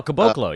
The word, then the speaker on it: Caboclo: pronounce his last name, so correct me, Bruno Caboclo, the one that was on Memphis? Oh, Caboclo, yeah.